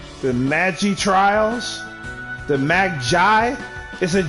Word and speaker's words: Magi: problem the Magi trials it's not g it's a magi man I'm telling